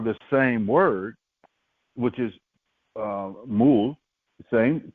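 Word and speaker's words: מול: The first one is pronounced mul, like a M-U-L, right?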